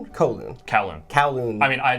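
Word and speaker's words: Kowloon: of of you said cowon cowon callon I mean I that also might just be the the bad pronunciation but that's how it's always been pronounced to me so callon we're outside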